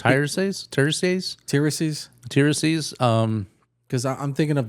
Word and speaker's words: Tiresias: He's actually a he's a because I can't even pronounce Tiresias.